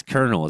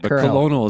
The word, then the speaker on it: colonel: Yeah, it's Colonel is how you say it. But colonial is a really funny Freudian slip.